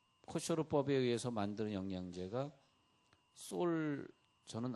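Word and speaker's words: kosher: 이스라엘 백성들 중에서 이 코셔르법에 따르는 식당을 하는 그런 식당들이 있어요. 그럼 거기 그 식당 앞에 우리는 코셔르 식당입니다. 영어로는 코셔 그러고 이스라엘 사람들은 코셔르 그러는데 알 발음이 나가지고요.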